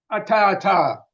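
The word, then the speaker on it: attā: Now the word is actually ata that's kind it's a little hard to pronounce. Uh so the first ata comes from ati it means existing and ata with a long a at the end means oneself one's own self.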